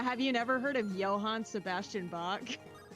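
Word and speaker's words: Johann: Have you never heard of Johan Sebastian Bach? It's It's German. That's why the the J is pronounced with a Y sound. It's Johan and Joe here.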